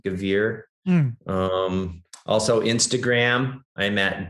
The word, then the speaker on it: Gavere: can look it up by my name gevier last name is spelled g a v as in victor e r e gavir um also instagram i'm at yak101 i'll